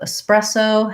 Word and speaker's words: espresso: it correctly so yeah sometimes you'll hear people saying it with more of an x sound um and that's incorrect so espresso has just the s um s bresso let's write it out